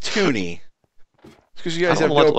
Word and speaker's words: Tunny: the t t t it's pronounced tuny cuz you guys have